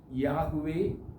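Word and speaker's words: Yahweh: എച്ച് ഡബ്ലുഎച്ച് എന്നാകും എന്ന് വേദശാസ്ത്രമാർ പറയുന്നു വേദപണ്ഡിതർ അതിന് യാഹുവേ അഥവാ യഹോവ എന്ന് എന്ന് എന്നാണ് എന്ന് എന്നാണ് ഉച്ചാരണമാണ് കൊടുത്തിരിക്കുന്നത് ഈ പേര് ഒരു രഹസ്യം അടങ്ങുന്ന അല്ലെങ്കിൽ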